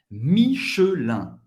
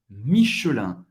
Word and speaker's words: Michelin: Michelin. Michelin. Pronunciado rápido em francês nativo seria Michelin. O E desaparece. Michelin.